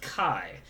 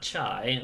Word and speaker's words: chi: real fast uh and that's pronounced kai not chai like if you get chai tea or key which is what um